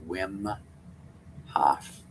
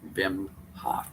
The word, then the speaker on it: Wim Hof: to you about the wim hof properly pronounced vim hof method you may have